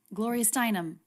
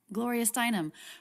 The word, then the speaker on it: Gloria Steinem: gloria steinem gloria steinem gloria steinem okay there's that name again we have a little bit of stress on the stress level of gloria but then more stress on the stressed syllable steinum glorious dynum there's no